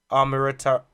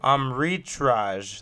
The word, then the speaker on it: Amritraj: His name is Ashok Amritaj. I think you said it right. Amritraj.